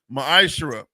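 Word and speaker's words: מעשר: chapter 3: 8-10 means 10th in the Hebrew is pronounced maish 10% of every penny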